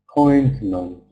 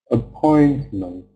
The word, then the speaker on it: appointment: syllable is stressed and the the second two syllables have Schwan sound accident accident appointment appointment can you hear how um the stress is